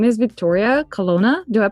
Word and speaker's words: Vittoria Colonna: Her name is Vittoria Colonna. Do I pronounce it correctly?